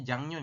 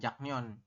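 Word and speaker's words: 작년: Jangnyon itu ini dibacanya Jangnyon ya, bukan Jaknyon.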